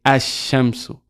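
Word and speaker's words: الشمس: If there's a sheen after the al, we will not pronounce the lam. That's why we say ash-shamsu.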